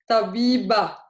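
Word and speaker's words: طبيبة: end of words, and it sounds like ah, and it makes it mostly the function of the Ta marbuta is to make masculine word feminine. Like, for example, we did the jobs, remember? Tabib, tabiba. So if it's a woman doctor, we add a Ta marbuta at the end, we make it feminine.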